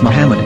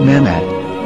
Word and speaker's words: Muhammad: vowels, it can be read as Muhammad, which is the name of the Muslim prophet, or as Mamad with no A after the H. According to Ben Yehuda's Hebrew English Dictionary, it is correctly pronounced as Muhammad, not Mamad.